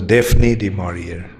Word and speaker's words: Daphne du Maurier: In England they pronounce as Daphne du Maurier.